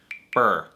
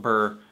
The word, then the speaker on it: Byrrh: heard is pronounced apparently this bottle is pronounced in french more like beard or beer but you know in english i'm not going to start calling it beer because that's just going to be confusing with beer so anyway i'm just going to call it burr you'll know what i